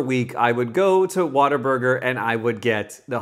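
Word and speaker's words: Whataburger: in America it's pronounced waterburger the the the proper name is what a burger what a burger but the colloquial name around these parts is Water Burger I know it sounds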